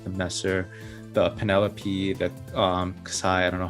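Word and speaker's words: Xi: Flash kits like the Messer, the Penelope, the Kasai, I don't know how to say it properly. Zai, yeah. Kasai.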